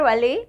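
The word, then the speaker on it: well: हम इसको कैसे बोलेंगे जैसे अब हमारा ये लिखा है वेल वेल ठीक है तो हम जो वेल बोलेंगे तो हमारा माउस राउंड हो जाएगा लिप्स हमारे राउंड शॉप में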